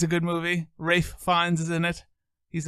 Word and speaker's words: Ralph: race names and race it's Ralph but he pronounces it race really I believe so